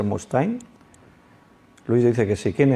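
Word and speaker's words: Mustaine: nombre de dave mustain most time se escribe una de la pronunciación debe ser mustain louis dice que sé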